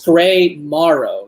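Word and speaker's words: Gray Morrow: grey Mar grey Maro wait it's gray Maro right like the pronunciation his the last name yeah yeah I I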